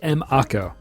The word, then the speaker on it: Mako: I called it Mieko every time. It was M-Ako. M-Ako? So Mako. No, to Mako. No, it's an acronym. Nope. Until I play remake, to me, it's Mako.